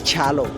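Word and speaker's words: Kyalo: It's a Kamba name, K-Y, which Kambas pronounce it as Cha. So it's Chalo, okay?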